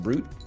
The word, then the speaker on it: Brut: don't know art Brut Brut is pronounced brute I am brute champagne